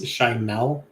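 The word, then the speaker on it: Schimel: He says it's Shimel. Wow. Shimel. Who cares? We'll find out. We'll find out how it's pronounced if he wins.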